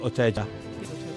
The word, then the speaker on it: Ocheja: Is it Ocheja? Ocheja. Welcome, Abigail.